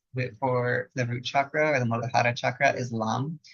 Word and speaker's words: Lam: The Bija mantra for the root chakra or the Muladhara chakra is Lam. We pronounce it with the long A, so it'd actually be Lam. You would say more like L-U-M, the L-A-M, but this is really great.